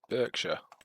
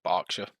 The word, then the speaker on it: Berkshire: So again, 5 German Landress and 5 Berkshire, or Berkshire, depends on where you're from and how you want to pronounce it.